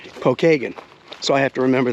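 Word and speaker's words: Pokagon: I keep wanting to say like Pokemon, Pokeagon, you know. No, it's Pokeagen.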